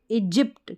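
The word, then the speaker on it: Egypt: वाई पी टी जिप्ट इजिप्ट क्या है इजिप्ट वाई यहां पर साइलेंट है इजिप्ट में फिर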